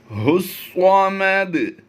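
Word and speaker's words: ٱللَّهُ ٱلصَّمَدُ: अल्लाहु स्वामद, ये अलिफ और लाम दोनों साइलेंट होंगे, इन्हें नहीं पढ़ा जाएगा। हुस्वामद लम यलिद, यहाँ पर हमने कलकला करना है।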